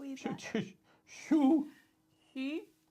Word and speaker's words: Xu: Xu. So the X makes a sh sound.